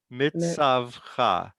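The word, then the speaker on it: מִצְוָתְךָ: Mitzavcha. The tzadi has a vowel already, and so the vav is a consonant, and it's the end of the syllable.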